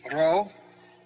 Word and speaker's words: rho: of the english p the rho is a an r sound but in greek they roll the r if you've learned spanish or french there's a rolling r there as well so try to put a little d in front of the row so you put it if you put a d it'll help you to roll the row and give you that other sound sigma has an s